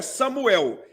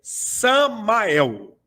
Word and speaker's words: Samael: Não é Samuel, é Samael. Samael. Samael.